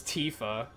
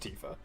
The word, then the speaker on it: Tifa: If you would if you'd break Tifa down with Japanese characters, it would be pronounced Tifa.